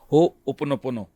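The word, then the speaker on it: Ho'oponopono: होओपोनोपोनो. हाँ। मुझे भी यह नाम सीखने में कुछ समय लग गया। आपने इसका सही उच्चारण किया है।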